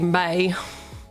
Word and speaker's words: Mai: that somebody was saying, "I looked it up, but I guess it's pronounced the way that they thought it wasn't pronounced." And so they said none of their jokes are going to work anymore. It's going to be May, man.